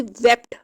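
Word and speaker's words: wept: अब देखें यहाँ टी आ रहा है, तो इसको प्रोनाउंस करते हुए वेप्ट, टी ही एंड पे आएगा।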